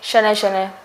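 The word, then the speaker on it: शनैः शनैः: ह जो है वो प्रोनाउंस होगा विसर्ग की जगह पे। तो यहाँ पे जो है वो शनै शनै, इस टाइप से ये जो है वो सही हो जाएगा।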